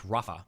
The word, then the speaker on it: Rafah: Is that how you pronounce that? Is it Rallah or is it Rallah? Or no, it's Rafah.